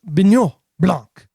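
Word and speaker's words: Benoit Blanc: Detective Bignon Blanc, you have to say it like Hercule Poirot, is put on the case, and Daniel Craig goes to work.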